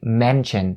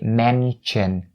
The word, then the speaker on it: mention: Whereas the majority of North American people will say mention. They turn the sh sound into the ch sound and they say mention.